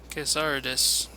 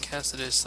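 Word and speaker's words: Cassardis: Casardis. Cassidus? I always thought they said it Cassidus, like the R is silent. But I now notice that there's an R in there.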